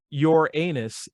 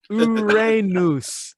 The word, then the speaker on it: Uranus: And it's not your anus, it's Uranus. Accent on the Ra, same as in Aaron Ra.